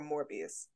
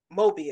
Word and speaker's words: Mobius: Our good sis that was in Secret Invasion dying in the first episode, or Morbius? Mobius, excuse me. Let me say his name right.